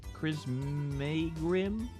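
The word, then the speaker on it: Crissaegrim: and I'm still trying to get the chisma Cris Grim that's how you say it some special sword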